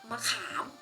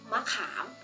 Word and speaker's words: มะขาม: ดัง นั้น ทั้ง คำ นี้ จะ อ่าน ว่า มะขาม มะขาม เห็น ไหม คะ ว่า เสียง มัก เรา ออก